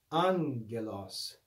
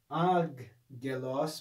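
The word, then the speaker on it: ἄγγελος: in this lesson that when we have a double gamma the first gamma is read as a nu so this would not be pronounced ag gelos but an elas and he tells us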